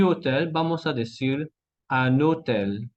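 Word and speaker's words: hôtel: Alors, hotel, de manera aislada, hotel, la H es muda. Pero ahora, juntos, a y hotel, vamos a decir un hotel, ok.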